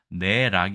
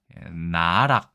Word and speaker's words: 奈落: 그러니까 "naerak" 이 아니라 "narak" 인 거 죠 ?